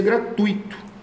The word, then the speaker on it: gratuito: todo ensino deveria ser gratuito gratuito gratuito tui tui tui tui ok não vejo